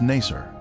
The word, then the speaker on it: Nasr: Its former name in the 19th century was Nasr. This pronunciation is similar to Nicer, a village that the Babylonian Berosus described as being near the Ark site.